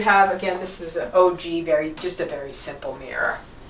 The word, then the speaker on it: ogee: It's OGEE. That's how you spell it. Oh, Yeah, okay. Yeah. And you'll just see it on mirrors and other furniture too. Sometimes it's called an OG.